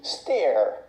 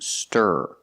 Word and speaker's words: stir: mean whisk ah yes this word is not pronounced steer it's pronounced stir using the IR sound like Burger it's a closed sound